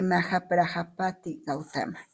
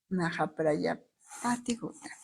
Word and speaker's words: Mahaprajapati Gautami: espero pronunciarlo bien, de Mahaprajapati Gautama. Mahaprajapati Gautama. Era la madre de Buda, ¿no? Exactamente. Gautami, aquí dice Gautami, fíjate. Mahaprajapati Gautami.